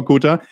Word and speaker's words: Cotar: Ich habe immer Joanna Kotta gesagt, aber tatsächlich die Betonung liegt auf dem O, wenn ich Ihren Namen ausspreche.